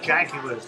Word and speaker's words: jaguar: finally question 10 uh bear in mind i'm from england and we have a car that's named this way so i'm going to pronounce it the english way yeah in which continent do jaguars live jaguar so in